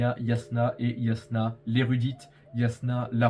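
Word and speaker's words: Jasnah: de l'érudite Yasna euh parce que oui ça se prononce Yasna et pas Jasna comme comme comme comme comme on est tenté de de le lire euh donc oui en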